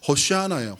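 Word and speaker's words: הושענא: 호샤나라고 하는 히브리어예요. 발음은요 호샤아나예요. 호시아나.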